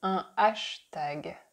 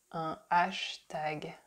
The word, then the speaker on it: hashtag: we say hashtag hashtag we just don't pronounce the H the Hat at the beginning because that's not a sound that would exist in French so we say ashtag ashtag next you have to